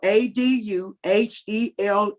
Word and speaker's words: Aduhelm: A is spelled ADUHELM as in Mary.